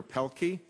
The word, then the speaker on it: Pielke: have uh Dr Roger pelky I've pronounced it correctly I see by your name not by your head nodding yeah you got it that's and uh then